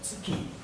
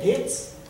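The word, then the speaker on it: 月: No Nihongo é tsuki, né? No chinês, pronúncia chinesa, pode ser getsu ou gatsu.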